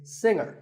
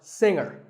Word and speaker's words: singer: word is pronounced subtle another popular word with a silent letter is singer the g is silent now we say finger we say the g younger again with the G but singer no G and what